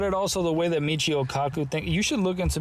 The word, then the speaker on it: Michio Kaku: Michio Kaku. Michio Kaku.